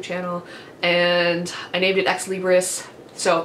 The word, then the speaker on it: ex libris: and I named it ex libris so that is actually how you pronounce it is ex libris it is Latin it stands for from